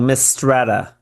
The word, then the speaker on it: Mistretta: Tell me if I'm pronouncing this wrong. Mistretta.